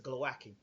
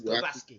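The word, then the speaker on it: Głowacki: him very well against glowaki um glaski let me say because I've been told I pronouncing the name on it's glaski it's hard you know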